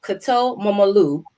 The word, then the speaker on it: Korto Momolu: So Liberian born, fashion designer and stylist, and her name is pronounced Korto Momolu, and she is hailing to us fresh out of Arkansas.